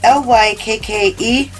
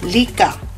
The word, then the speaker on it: Lykke: It's L-Y-K-K-E, but it's pronounced Lykke.